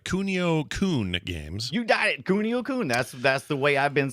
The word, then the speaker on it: Kunio-kun: You got it, Kunio-kun.